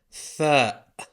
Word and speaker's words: فاء: Fa. The F of the Arabic alphabet. Plain and simple. Pronounced fa, exactly like the letter F.